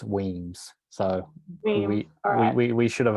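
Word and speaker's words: Wemyss: moved to toast them remember it's pronounced in brackets weems so we we should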